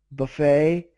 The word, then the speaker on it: buffet: yeah a lot of words that end with ET like buffet and valet the t is silent oh that was B